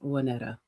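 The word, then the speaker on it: Waynetta: It's Wanetta. Spell that. W A Y N E T. No A. But it is spelled it is pronounced Wanetta.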